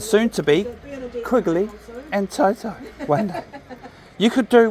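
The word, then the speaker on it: Tau: And it's important that his name's spelled correctly because it's the Māori version of the name, which is spelled T-A-U, Toto.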